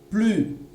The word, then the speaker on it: plus: Je n'entends pas le S. Pourquoi? Je suis du verbe suivre, pas du verbe être. Je suis la règle de la consonne. J'ai donc une consonne. Je ne peux pas prononcer le S. On entendra plus.